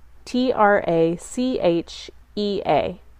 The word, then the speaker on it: trachea: in the respiratory cycle is described next trachea tra CH e a the CH is pronounced like a que trachea the windpipe the